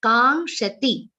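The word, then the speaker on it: काङ्क्षति: Ka is followed by nga sound, kshatriya ksha, and ta with a short e sound. Kangshati. Do not drag the last t.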